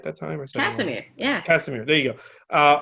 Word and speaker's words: Casimir: Casimir, yeah.